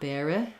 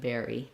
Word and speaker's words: bury: Make sure that you're careful not to make this more of an I, not bere or bera, but bury, bury.